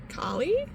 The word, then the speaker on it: Kali: And so she's like, Kali? And I'm like, oh, she's the second person this week that pronounced it technically correctly by origin and stuff. And I'm like, no. She's like, oh, so it's Kaylee.